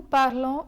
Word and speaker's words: parlons: In French, the final consonant is usually silent. So similar to the silent S in tu parles, the S in nous parlons is not pronounced.